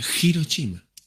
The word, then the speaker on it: Hiroshima: vamos a tocar en hiroshima se pronuncia giro chima le dije mis compañeros